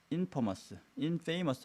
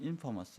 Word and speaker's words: infamous: 자, 몇몇 선진국들은 are infamous 아니고 infamous 해서 발음은 이렇게 합니다.